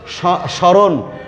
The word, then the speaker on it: স্মরণ: স্মরণ, স্মরণ বানানে ম ফলা আছে, এই ম প্রথম বর্ণে যুক্ত হয়েছে ফলা হয়ে, তাই এটি উচ্চারণ হবে না, কারণ আদ্য বর্ণে ম ফলা উচ্চারিত হয় না, তাই এটি উচ্চারিত হবে না।